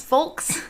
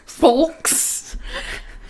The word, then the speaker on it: folks: Folks? Folks. How do you say it? Folks. Folks. Folks. Folks. Folks. Folks. You don't pronounce the L.